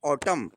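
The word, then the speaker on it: autumn: देखिए एम के बाद अगर एन तो ऑटम एम के तुरंत बाद एन आया तो इसको हम ऑटम नहीं पढ़ेंगे। एम के बाद अगर एन आया है तो उसको हम एन का प्रोनाउंसिएशन नहीं करेंगे। हम केवल उसका एम का प्रोनाउंसशन करेंगे। एन का नहीं करेंगे। इसको हम ऑटम नहीं पढ़ते हैं। इसको हम पढ़ते हैं ऑटम।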